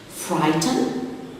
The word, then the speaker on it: frighten: Frighten, the silent letter is the GH before the T.